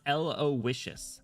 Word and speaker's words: Aloysius: It's pronounced Aloysius.